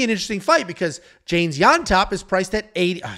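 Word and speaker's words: Llontop: we have James yop and that is how you pronounce it with a Y yop taking on Chris Padilla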